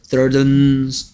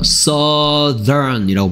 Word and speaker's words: southern: 웨스트 웨스턴 사우스 서든 서든이 아니야. 서든은 갑작스러운이고요. 서든이라고 발음하고요. 여기에 나오는 뭐 사우스 얘는 southern이라고 발음해요.